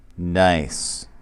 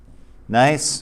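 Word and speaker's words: gneiss: write it out and this is pronounced nice all right nice and marble and then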